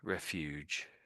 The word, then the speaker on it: refuge: So, refuge and refugee. That's the difference. You put an extra e on the end, it becomes refugee.